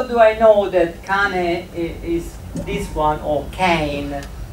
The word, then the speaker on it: cane: But in Italian we pronounce cane, not cane.